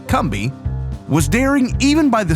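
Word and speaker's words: Combahee: our history and culture I'm Brian Powers the kby fairy raid and that spelled c o m b a he e e but pronounced kbi was daring even by the standards of the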